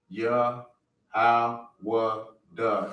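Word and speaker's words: יהודה: in America it's y it's pronounced yah in the Hebrew yah duh and the D is connected the D and the is connected at the end everything else is single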